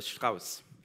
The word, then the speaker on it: strace: language or German language, it's called Strauss, or Strauss, which is the way how you pronounce strace, a fun fact.